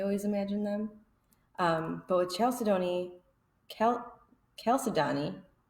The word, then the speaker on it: chalcedony: he also had chalcedony they said the correct way to say it according to the dictionary not my name is chalcedony chalcedony I picked that one